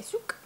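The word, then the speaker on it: souk: The next one is Gold Zouk. I can't pronounce it, S-O-U-K, Zouk, which is like a bazaar.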